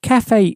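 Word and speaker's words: café: don't say c so that e on the end has a sort of an a sound in Cafe so we're going to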